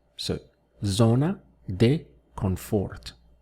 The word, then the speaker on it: confort: So, zona de confort. Remember that here we have an N instead of an M, so it's important to make that clear in your pronunciation.